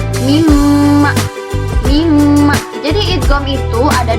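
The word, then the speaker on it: مِمَّا: Kalau idgham bi gunnah itu idgham yang menggunakan gunnah. Contohnya mimma.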